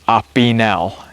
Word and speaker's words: Opinel: use then we have the opinel number eight I think I'm pronouncing that right um Irene will correct me if I'm not but being made in France I heard that it was ainel is the correct pronunciation These are nice little